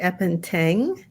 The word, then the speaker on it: Appenteng: Appenteng. Did I say it correctly this time? Appenteng, yeah.